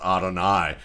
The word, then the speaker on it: Adonai: the sense that it's the English spelling for the Hebrew word for God, actually pronounced Adonai, but Adonai Mitchell, I mean, again,